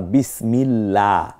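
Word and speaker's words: بسم الله: যেমন আল্লাহ আমি বলছি আবার বিসমিল্লাহ এখানে বিসমিল্লাহ ওই যে আল্লাহ শব্দের লামটাকে পাতলা করে পড়তেছি এইটা কেন প্রথমেই বুঝতে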